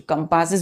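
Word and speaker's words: compasses: कंपास नहीं बोलते हैं बच्चों, कंपासेस बोलते हैं। कंपासेस, ES का उच्चारण क्या होता है, IS, ठीक है।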